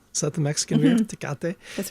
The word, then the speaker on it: Tecate: Tecate?